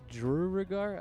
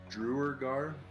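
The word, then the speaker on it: duergar: i think that okay how do you pronounce that drew regard i can't i can't do it i think it's drewer gar that makes sense drew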